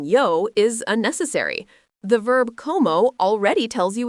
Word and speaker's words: como: Como, pronounced co-mo, means I eat.